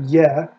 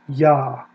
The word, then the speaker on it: Yahweh: in the hebrew bible it doesn't have ye it's not ye like short for ye hova it's yah now if you want to